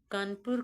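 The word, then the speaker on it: Kanpur: कानपुर का स्पेलिंग अब आजकल चलता है कानपुर जैसा होना चाहिए के एन पी यू आर लेकिन ब्रिटिश टाइम से इसको कौन वो कानपुर तो बोल नहीं पाते थे वो बोलते थे कौन पोर पुर वो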